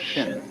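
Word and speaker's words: 心: chinese mind is um this word pronounced shin and shin is here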